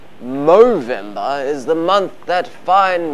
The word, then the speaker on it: Movember: charity called movember and no i didn't just mispronounce november movember is the month that